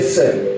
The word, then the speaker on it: CERN: C'est un centre qu'on appelle Sœur. Dis avec moi Sœur. Dis encore Sœur. Bien si tu ne sais pas prononcer, vas-y, même dis Sœur.